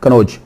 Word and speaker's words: कन्नौज: ये double N भी आता है लेकिन आम प्रोनाउंसिएशन एक ही एन बोल जाते हैं, नून, कन्नौज।